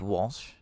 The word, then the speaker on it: Walz: I think that you have basically just pronounced your own sentence, Walsh. Waltz. I say Waltz.